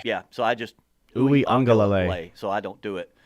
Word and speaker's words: Uiagalelei: I just never understood the love for DJ Uiagalelei. Well, I never understood it. First of all, he's got. To me, it's like trying to say his name is like trying to order coffee at Starbucks. So Uiagalelei.